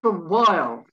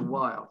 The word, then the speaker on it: while: seen weather the next while rest a while while silent h while peculiar then there's